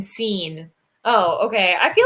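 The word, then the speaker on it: Cine: about ouija boards um scene i believe it's pronounced like scene because when he got picked rich eisen said and seen oh okay i feel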